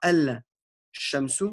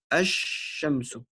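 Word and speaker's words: الشمس: Donc, on ne dira pas al-shamsu, on dira ash-shamsu.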